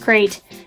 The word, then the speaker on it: krayt: say a quick disclaimer I understand that it's pronounced krayt dragon I as a kid always pronounced it